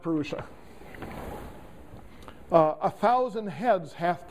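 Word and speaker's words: पुरुष: a being named perua actually it should be it's just an S with a DOT under it so that the Sanskrit is among you do not get offended but it's pronounced peria uh a thousand heads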